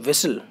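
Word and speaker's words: whistle: रहे होते हैं तो इसमें जो साइलेंट वर्ड है जी हां वो आपका एच और टी आप जब प्रोनंसिएशन करेंगे विसल तो यहां पर डब्लू आएगा आई एस एल ई वेसल करके बोलते हैं आप जो है ठीक तो एच और टी इसमें जो है वो साइलेंट आपको देखने को मिलेगा और ऐसे सवाल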